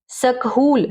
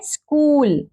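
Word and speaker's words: school: स्कूल, ठीक है, SCH, सकहूल, सकहूल तो नहीं पढ़ते ना, देखा जाए तो साउंड के हिसाब से सकहूल बन रहा है, लेकिन इसको क्या पढ़ेंगे, एच साइलेंट है, स्कूल, विद्यालय, ठीक है।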